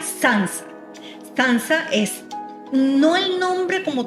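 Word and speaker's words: tsantsa: cómo pronunciarla pero en la investigación aprendiz se pronuncia sans danza es no el nombre como tal de la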